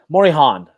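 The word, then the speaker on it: Morejón: Am I doing that pronunciation right on that J? That's how I say it too, but I think it's wrong. So what do you think? It's Morejon? It's there's like Morejon. Morihan. I think it's Morihan.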